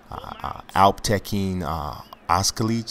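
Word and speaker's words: Alptekin Özkılıç: Alptekin Oskalic, I think his name is pronounced, against Luis Smolka.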